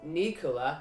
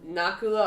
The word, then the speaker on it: Nakula: kul a knock-knock hula I've been calling an ocular okay I listened to the Mahabharata and I'm trying to remember how they pronounced it so so now it's Nakula Arjuna Bhima and yuddhistir